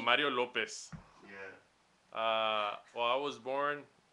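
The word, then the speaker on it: López: acento en la I. Mario Lopez.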